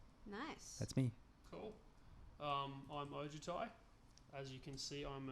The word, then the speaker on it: Ojutai: I'm Ojutai. As you can see, I'm an How do you spell that? almost phonetically now. I think about it. Ojutia. O-J-U-T-I. T-A-I. Sorry. Yeah, Ojutai.